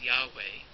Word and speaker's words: Yahweh: The divine name, which is usually pronounced as Yahweh, sometimes referred to as the Tetragrammaton because it has those 4 letters, which vowels are not added to in the Jewish tradition, and in fact the name is not pronounced.